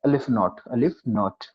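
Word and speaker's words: aleph-null: pronounced as alpha, and the symbol, this is pronounced as alif naught.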